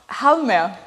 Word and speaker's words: Halmer: You did pronounce it Halmer. Halmer.